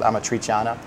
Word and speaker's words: amatriciana: But airy and puffy, and then it's served on top of a sauce called amatriciana, which is a tomato sauce with bacon in it.